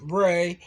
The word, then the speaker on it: Ra: of life and growth which is pronounced as Rey as in race of the sun Rock